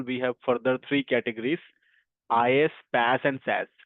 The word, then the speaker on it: IaaS: So under the service delivery model we have further three categories is PAS and SAS. So we pronounce this as is PAS and SAS. is PAS or SAS pronounce is and uh the IS